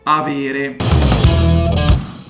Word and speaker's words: avere: to have in italian it's going to be aviri the verb to have expresses mainly the